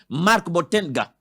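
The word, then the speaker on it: Marc Botenga: député beauté c'est quoi c'est comme ça qu'on prononce Marc bottenga oui internationale face à la situation quand la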